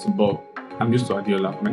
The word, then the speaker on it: Adeola: call me right but I'm used to Adola my name is Adola um I hate introducing myself like because